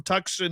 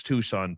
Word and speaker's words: Tucson: friend Karen Hill from Tuxen Muon. Yes, I know it's Tucson people, but it's much much more fun to pronounce the C as well.